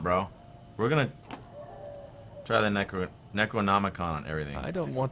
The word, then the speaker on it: Necronomicon: And I'm gonna use this Necronomicon.